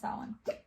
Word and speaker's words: Samhain: It's not Samhain. Samhain. I think it's pronounced Samhain.